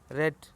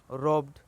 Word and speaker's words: rob: रो रॉब्ड रॉब्ड रॉबिंग। ये रो नहीं, रॉब है। ROB है, यहाँ थोड़ा सा मीठा हुआ है।